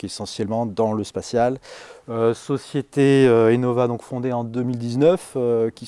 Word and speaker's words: Innova: Aimez Innova bien comme innovation.